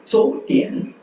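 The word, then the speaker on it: 昨天: அடுத்து சோட்டியன் சோட்டியன் ZU. ஸோ Z வரும்போது நம்ம பார்த்துருக்கோம் DS சவுண்ட். ஓகே, அந்த கிட்ஸ் KIDS அப்படின்னு ப்ரொனவுன்ஸ் பண்ணுங்க.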